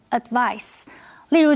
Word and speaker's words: advice: 医生建议 Michael 要戒烟，并且做一些温和的运动。它的名词是把字尾的 se 变成 ce，变成 advice。注意 ce 是发死的音，念成 advice。例如 Jennifer took her hairdresser's advice and got a perm.